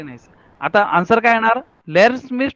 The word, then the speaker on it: lerne: पण जर्मनने काय सांगितलं, लास्ट लास्ट में अगर जर का ए ई है तो ई का प्रोनाउंसिएशन आप अ जैसा कर सकते हैं. And that's why आई am saying इश लेर्न. पहला ई है उसका ए, और लास्ट का जो ई है उसका अ. तो my pronunciation is very nice, इश लेर्न.